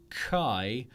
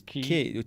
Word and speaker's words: Qi: Is that how it's I pronounced? believe it's Key. key. Or maybe it's Key. Oh no, it's spelled Chi, isn't it? But it's pronounced key. Yeah. Key. It's Yeah. spelled Key. It's Key. pronounced Key.